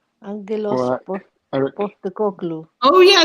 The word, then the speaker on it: Postecoglou: Postecoglou. Oh, yeah, it's a hard G in Greek, isn't it? Yeah, I'm Greek. Angelos Postecoglou. Actually, the P is pronounced as a B, so it's Postecoglou.